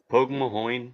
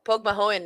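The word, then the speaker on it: Pogue Mahone: too not too bad does Pokemon mean kiss my ass yeah or or did it mean Kiss Me I'm Irish no POG Mahone is kiss my ass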